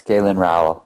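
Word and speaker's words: Galen Rowell: Is that how you pronounce his name? Yeah, it's Galen Row.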